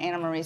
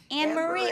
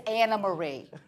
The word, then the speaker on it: Anna Marie: you Anna Marie and I'm the only one that's pronouncing your name right at this point Anna Marie so you should be thanking me it's true everybody was like an Marie I'm like it's anamarie coming from my esophagus